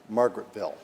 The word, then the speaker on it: Margaretville: And just as a point of order, it is pronounced Margaretville.